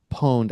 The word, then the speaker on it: pwned: It's pronounced poned as in owned with a P.